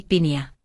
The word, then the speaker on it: piña: Y con piña, haz la ñ como una ni piña. Si dices pia, la gente no entiende.